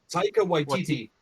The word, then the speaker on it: Taika Waititi: Taika Waititi.